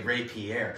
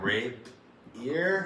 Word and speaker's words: Rapier: you pronounce it cool you say ray pierre a lot of people are like raped ear rapier not right here